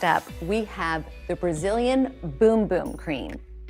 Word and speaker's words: Bum Bum: we have the brazilian boom boom cream i know it looks like it says bum bum on the little jar here but in brazil they pronounce it boom boom and trust us